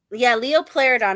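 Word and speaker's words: Liopleurodon: Leo Pleurodon. I felt like I was going to say it wrong. Pleurodon. Like plural.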